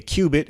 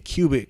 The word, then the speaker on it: qubit: the sociable it says in quantum computing a qubit and this isn't the measurement for height this is spelled q-u-b-i-t which is a quantum bit is